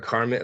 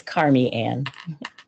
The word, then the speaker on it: Carmianne: Is it Carmian or Carmen? Like I just want to make sure that I have it right. Yeah, it's Carmianne. Carmianne.